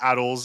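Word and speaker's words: ATLS: The ATLES, which is the correct way to pronounce it, it does not have a second A, and I will fight anyone who disagrees.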